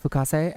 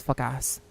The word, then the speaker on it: Fukase: There's a Vocaloid called Fukase, and people usually purposely mispronounce his name as fuck ass.